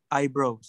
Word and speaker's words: eyebrows: Eyebrows. Eyebrows. I bacanya jangan e ya tapi I gitu ya. I bro.